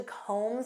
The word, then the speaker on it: comb: Do you have time to comb through this report? Do you know what this means? To comb through. And notice that B is silent, comb. Comb through.